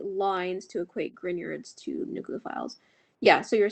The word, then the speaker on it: Grignard: San draws 3 lines to equate Grignards to nucleophiles.